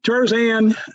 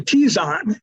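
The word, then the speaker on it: Terzan: other other galaxies um tarzan actually t-zone uh three is how you pronounce that um t-zone three is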